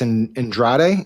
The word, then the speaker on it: Andrade: So he's clearly burned some bridges, but one in particular, Representative Alex Andrade, is that how you pronounce it? Andrade, yeah.